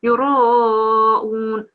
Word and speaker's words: يراءون: Yeah, and we have to have a round mouth on the ra because the ra is carrying a fatha, so it will be yuraun, yuraun.